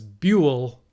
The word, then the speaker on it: Buell: But the other one, Stat Dad, clarified that it was Buell. No, I probably said Buell, but it's Buell, like Jewel.